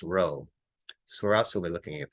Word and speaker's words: rho: coefficient it's represented by this p and it's pronounced rho so we're also looking at that okay so